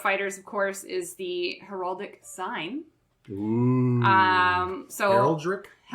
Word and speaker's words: heraldic: foremost thing about fighters of course is the heraldic sign oo um so Herald I think well it's a Herald heral dick haral dick rck there's R guys there is